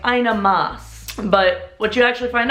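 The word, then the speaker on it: Maß: quick short eighth so remember don't do the ah sound you know you're you're not going to the doctor shorten it easy does the trick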